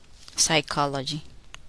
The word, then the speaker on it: psychology: The letter P is silent, not pronounced. In the following words, listen and repeat each word after the speaker. Receipt, psychology, pneumonia, corpse, raspberry, cupboard, sapphire.